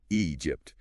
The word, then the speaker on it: Egypt: Egypt. Starts with a long e sound. Egypt. A common issue for Portuguese speakers is starting with an a sound, but it's e.